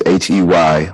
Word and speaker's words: Hay: It's Hay Lee, but the first name is Hey, last name is Lee.